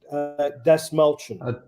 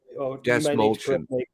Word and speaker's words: Dastmalchian: How do we pronounce his last name? It's quite unusual. Dastmalchian. Dastmalchian.